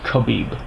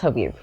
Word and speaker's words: Khabib: one I want to call him khib khabib but I've been calling him kabib it's khabib khabib if I'm pronouncing your